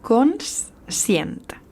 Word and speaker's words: conscient: Conscient porta una S que realment no es nota massa quan la pronunciem ràpidament, però que sí que, òbviament, ha d'aparèixer.